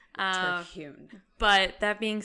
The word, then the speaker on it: Terhune: all, because I don't even know that I'm pronouncing it right, you know? You say it. I say Terhune. Terhune.